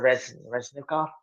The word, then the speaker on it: Reznikov: Do we not know what's happening with what's concerning Minister Reznikov? Did I pronounce that correctly?